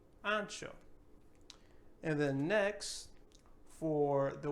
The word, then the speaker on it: ancho: So in this word, we're not going to say anso or anco or nothing like that, but we're actually going to give this H a sound. So ancho, ancho.